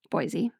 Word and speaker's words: Boise: Is it pronounced Boise or Boise? Boise.